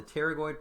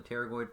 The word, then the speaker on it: pterygoid: these are called the pterygoid processes the p is silent so it's like pterodactyl the pterygoid processes that we see